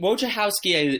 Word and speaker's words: Wojciechowski: Yeah, but, I've heard Wojciechowski. Wojciechowski is correct, but I've heard Wojciechowski, Wojciechowski.